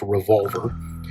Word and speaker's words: RVLVR: It's pronounced Revolver, and it's purposefully pronounced that way because they take their inspiration from revolvers, handguns, right?